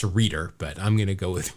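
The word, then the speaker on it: Rueter: Expos it's Kurt Roto-Rooter I think it's pronounced reader but I'm gonna go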